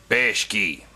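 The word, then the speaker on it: Bakshi: rail basket version yeah i pronounced his name right bash key yeah and uh it kind of sucked you know the animation looked weird and just kind of sucked but ralph bashki he's kind of a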